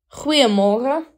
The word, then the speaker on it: Goeiemorgen: Goeiemorgen.